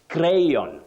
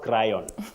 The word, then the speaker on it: crayon: Don home that H is not articulated or pronounce then you say crayon not cryon Betty were you ever told about cryon when